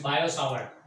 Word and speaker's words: Biot-Savart: फिर बायो सावर्ट ने लॉ दिया, बायो सावर्ट, खास ध्यान रखें ये टी साइलेंट है, उसे बोलने का नहीं, तो इट्स बायो सावर्ट, बायो सावर्ट ने लॉ